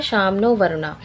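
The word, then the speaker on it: शं नो वरुणः: सम नो वरुणा ये pronounce किया जाता है श्यामनो वरुणा ठीक है ये हमारा दिया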